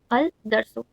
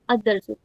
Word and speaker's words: الدرس: सो हाउ डू we pronounce it? अदर्सु instead of अलदर्सु.